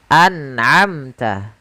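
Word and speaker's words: أنعمت: Kemudian kita ambil contoh yang ketiga, an'amta. Suara nunnya harus dibaca dengan jelas, amta. An'amta.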